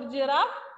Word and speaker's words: giraffe: G in the back, we pronounce it ga. Garden, gold, gallop. But for giraffe, G.